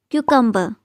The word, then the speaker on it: cucumber: It's cucumber, just like letter Q in the alphabet.